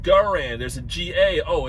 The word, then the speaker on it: Garand: americans is like we got us an m1 grand rifles over here no it's it's pronounced garand there's a ga oh it's it's it's garand